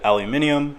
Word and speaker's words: aluminium: example what is this metal if you said aluminium then you actually don't agree with me because